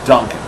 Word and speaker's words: Dunkin': Dunkin' Donuts is no longer exist. It's Dunkin'. It's just Dunkin'.